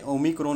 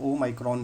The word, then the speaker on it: ओमाइक्रोन: नाम चल रहा है, असल में ओमिक्रॉन नहीं है, इसका जो प्रॉपर प्रोनाउंसिएशन है वो ओमाइक्रॉन ही है।